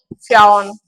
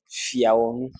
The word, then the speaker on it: Fiawon: So Honorable Fiaun. Thank you very much. It looks like my sign name is becoming a problem. My name is Fiawon.